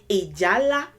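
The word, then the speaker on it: Ìjálá: Ijala is how you would say this word.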